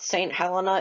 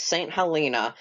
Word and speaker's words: Saint Helena: I was informed on a previous comment that I was pronouncing their name wrong, and it's not St. Helena, it's St. Helena.